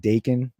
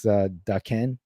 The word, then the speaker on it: Daken: So yesterday I learned that I've always pronounced it Daken, but apparently it's Daken. Daken? Yeah, it's Japanese.